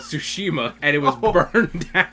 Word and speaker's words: Tsushima: Yes, Ghost of Tsushima. Yeah. I said it right again. Yeah. We're going to start messing it up now, calling it Sushimi again.